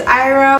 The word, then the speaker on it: Airam: My name is Ira, pronounced like I-rum, spelled Maria backwards in case y'all didn't know that.